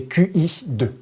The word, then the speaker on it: Qi: Mais vous le voyez, si Qi 2 ça vous parle pas, vous le voyez souvent écrit, c'est QI 2. Oui, c'est ça, mais du coup qui se prononce Qi 2.